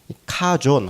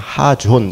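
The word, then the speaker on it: חזון: 단어가 비전이라는 말이거든 묵시 카존 혹은 하존이라고 발음하는데 하준이 더 많습니다 k는 무금이기 때문에 그냥 하준 이렇게 하는데요 비전이다 환상이다 이렇게 얘기합니다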